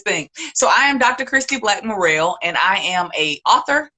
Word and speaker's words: Christie Black-Murrell: Christy Black Morrell, and I am a author, counselor, and speaker based out of Columbus, Georgia.